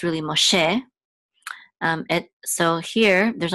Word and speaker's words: Moshe: version of Moses but in Hebrew it's really Moshe um it so here there's only one truck Mark it's um with a syllable dot so it's called a DOT and